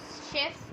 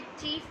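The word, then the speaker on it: chef: आपके PT2 syllabus में जो सेकंड आपका दिया हुआ है शेफ्स चॉकलेट केक, अब यहाँ पर इसको काफ़ी बच्चे चीफ भी पढ़ सकते हैं, चेफ पढ़ सकते हैं, ये होता है शेफ।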